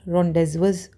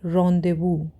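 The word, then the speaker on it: rendezvous: रॉन्डेजवस लिख रहा है आपको रेंडेजवस दिख तो ये रहा है, लेकिन उसको बोला क्या जाता है, रॉन्देवू।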